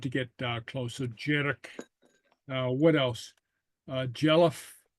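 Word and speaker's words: dearg: asked about uh jedik okay which is uh Jer okay uh which is red and it's pronounced J uh Jer J something like that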